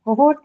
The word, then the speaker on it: cohort: A cohort will be. Uh, it's a it's a noun. Cohort is a noun and marked on the first syllable.